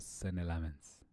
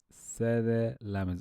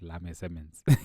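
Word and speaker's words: Senne Lammens: Let's talk about Sene Lamens. Sene Lamens. I was getting his name wrong the entire game. I was just talking about Lame Simmons.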